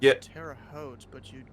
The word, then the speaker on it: Terre Haute: How do you pronounce the name of this airport? Terre Haute? It's Yeah. Terre Haute, but you'd call the controllers Holman, just like